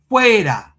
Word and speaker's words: Hueda: So we say Hueda, Hueda. The French say Juda.